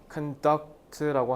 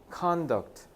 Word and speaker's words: conduct: 그리고 rules of 자, 이거 발음을 conduct라고 하면 안 되겠죠. 전치사니까 명사잖아. conduct. 명사는 액센트를 앞에다 두셔야 돼요. conduct 하면 행동이라는 뜻이 되죠.